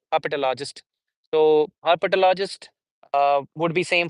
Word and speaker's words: herpetologist: Herpetologist. Herpetologist would be the word. Um, which will contain one, two, three, four, five syllables.